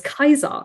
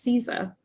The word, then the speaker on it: Caesar: pronunciation is very different the letter v is pronounced as a u the letter c is pronounced the k and the i consonant later the letter j sounded like a y resulting in wayneness instead of the goddess venus or julius kaiser instead of julius caesar the details put into